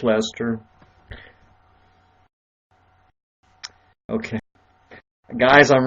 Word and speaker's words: Leicester: work it is so okay are used to Lester I have a friend that goes to school in Leicester so I always wear mispronounce Lester okay guys I'm right here ok so right